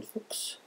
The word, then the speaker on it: Fuchs: I know that uh my family name Fuks is a little bit hard to pronounce for Americans, but it's maybe easier to uh remember uh when you know that means fox uh in German.